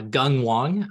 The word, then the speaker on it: Gung Wong: so who I am my name is pronounced uh Gung Wong so it's not very phonetic in case that's helpful uh and so I currently